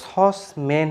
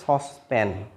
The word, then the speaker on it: saucepan: আমরা আমাদের এলাকাতে এই যে সস ম্যান বলি, কি যে আমার বোনের বিয়েতে 2 সসম্যান গোস্ত হবে, সস ম্যান বলে, কেউ সস ম্যান বলে। আসলেই এটার কারেক্ট প্রনাউন্সিয়েশন হবে হচ্ছে সসপ্যান।